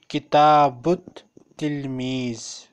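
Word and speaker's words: كتاب التلميذ: जो लफ्ज़ ना तलमीज़, जो ता है ये हमने पढ़ा था हरूफ शमसिया है, और दूसरा इस ता के ऊपर देखें शद्दा भी लगी हुई है, तो इसका मतलब है लाम साइलेंट होगा यहाँ पे और अलिफ भी साइलेंट हो जाएगा। किताबुत तिलमीज़ जी, किताबुत तिलमीज़ी इसको हम पढ़ेंगे।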